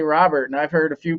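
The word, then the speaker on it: Luis Robert: You would think with Louis it would be Robert, not Robert, but all the announcers say Robert, and I've heard a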